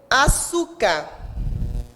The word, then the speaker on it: açúcar: Por exemplo, açúcar, a sílaba tônica é o su, penúltima.